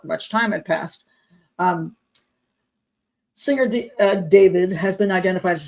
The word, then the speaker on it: D4VD: Okay, singer D4VD, which is David, reportedly now is a